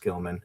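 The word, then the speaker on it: Gimlin: it's pronounced Gilman.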